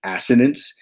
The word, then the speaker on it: assonance: middle school teachers say assonance to avoid saying assonance but to pronounce it assonance look at this one this